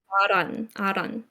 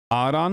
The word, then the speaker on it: Ahran: AHRAN. AHRAN?